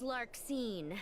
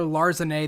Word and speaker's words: Larxene: we finally got like a pronunciation for that because when I was a kid I called her Larzane the entire time.